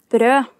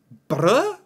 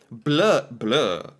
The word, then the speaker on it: brød: If you mistake the pronunciation of brød and say blø, it means bleed. So. Oh. Okay. I have to be careful here. Blø is different than brød.